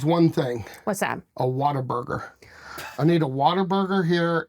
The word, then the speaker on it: Whataburger: H's, it's Whataburger. I hear you saying waterburger. Whataburger.